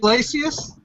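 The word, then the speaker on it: Iglesias: gabino yes sir I can't pronounce I can't pronounce names like Matthew so gabino is it glacius yep you got it man gab how do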